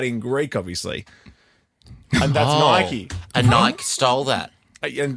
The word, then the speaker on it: Nike: a brand starting with n Nella you say Nike it's pronounced Nike yeah can I penalize Ricky for saying Nike